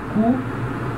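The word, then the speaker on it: cou: Então, singular, ó, cu, plural, de cu. E a pronúncia é a mesma, porque S no final, uma consoante, não se pronuncia.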